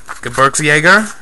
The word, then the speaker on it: Gebirgsjäger: client of mine uh the actual name of these guys are uh berks jaeger i believe is how it's pronounced uh they're uh mountain